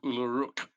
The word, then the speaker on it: Ulluruk: That person's name is Uluruk, which is spelt Ulluruk, Ulluruk being a half orc.